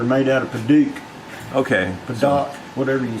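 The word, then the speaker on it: padauk: Padak, whatever you say. Yeah, P-A-D-A-U-K, so I've been told it's pronounced Paduke, and everybody has a different pronunciation, so I don't know.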